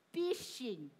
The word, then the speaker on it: phishing: Number two, phishing. Phishing. Ayun o, phishing. Pronounce nyo nga. Parang fish, no?